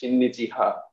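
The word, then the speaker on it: 親日派: And from for Shreya, you know, this term that you used, in Japanese, we'll pronounce it as shinnichiha.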